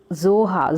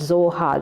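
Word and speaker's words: Xhosa: where mandela belongs children the pronunciation is too tough and even impossible for us to speak it only native speakers of africa can speak the word zohar that the clique sound will come in the beginning that is not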